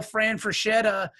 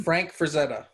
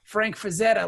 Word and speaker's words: Frank Frazetta: like the Conan style Fran Fraschilla is that's how you pronounce his name Frank Frazetta Frank Frazetta like Anna Frank Frazetta